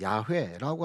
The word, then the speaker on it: 야훼: 히브리인들에게 전해진 이름, 그 이름은 여호와, 사실은 좀 더 히브리 발음으로는 야훼라고 하는 발음이 더 정확한 이름입니다.